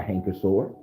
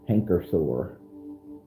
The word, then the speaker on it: canker sore: trauma in your life has been caused by hanker sore hell you have caused a lot of trauma